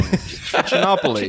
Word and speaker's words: Trichinopoly: And smoked a trichinopoly. I said it wrong. Trichinopoly.